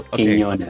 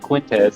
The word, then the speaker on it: Quiñonez: There's an Enya on the first N, so Quiñonez. Okay. So I've got like white man tongue, right? So I don't get it right, you know. Or Quiñonez. I've heard some people pronounce it Quintez. I'm like, there's no T in there.